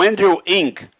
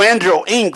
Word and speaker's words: Andrew Ng: O Andrew Ng, que é o jeito que a gente pronuncia esse nome impronunciável, tá?